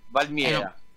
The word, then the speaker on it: Valmiera: Valmiera, senza che metti tanto se scrive come si legge Valmiera.